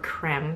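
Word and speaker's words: crème: I grabbed the Derma-E Anti-Wrinkle Vitamin A Retinol Palmitate Cream, or creme, that's how they pronounce it.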